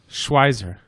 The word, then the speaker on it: Schweizer: Schweizer. Yell at Robert Schweizer? if it's wrong. So you always pronounce the second vowel if it's an EI next to each other or an IE.